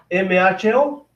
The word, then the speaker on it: mho: O sea, al revés de ohm, si ohm se escribe OHM, decían que este era un MHO, un mho.